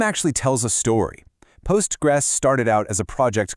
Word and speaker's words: Postgres: So, the name is literally Postgres. You can say the whole thing, PostgreSQL, or just Postgres, but please never Postgre.